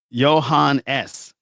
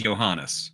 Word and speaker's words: Johannes: I told you it was Johannes. I'm saying your name wrong this whole time. Oh, terrible. I told you that's how you say his name.